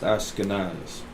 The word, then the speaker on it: Ashkenaz: I believe this would just be pronounced Ashkenaz.